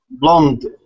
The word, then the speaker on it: blonde: Blonde. Blonde. Blondie? Yes. Blonde. Blonde. There's Blonde. the E on the end is not pronounced. It's just blonde.